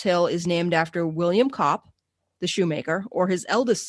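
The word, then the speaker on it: Copp: the north burying ground william kopp c-o-p-p it's sometimes uh pronounced cope c-o-p-e was a shoemaker who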